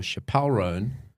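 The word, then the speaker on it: Chappell Roan: app and listen for Chapel rone I'm saying it right I think it's chapel chapel rone chapel chap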